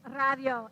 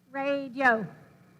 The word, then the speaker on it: radio: about spanish syllables so this word radio in english it has three syllables and we say radio well how many syllables do you think that has in spanish and they would say well i thought it had three but since we're talking about it it must not and i was saying you're right it does not it has two so this has two